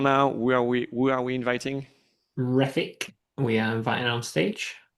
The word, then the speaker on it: Refik: Refik, we are inviting on stage. Hopefully I pronounced your name correctly. Hello. Refik, yeah, that's correct.